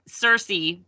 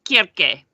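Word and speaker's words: Circe: pronounce it sir kirk cersei what is it yes yes it's c-i-r-c-e i'm reading i'll think it's cersei what i said everybody thinks it's cersei but it's kierke i love it i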